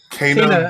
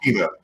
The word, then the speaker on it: Kena: Kena Bridge of Spirits. It looks like it's Kena, but it's pronounced Kena.